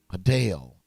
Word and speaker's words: Adele: I'm sorry, Adele. Adele is how you pronounce her name. We found that out.